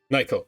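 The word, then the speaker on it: Nacyl: My name's Nykel, by the way.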